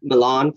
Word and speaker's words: Milan: power prospero is from milan pronounced villain in the play and alonso's from naples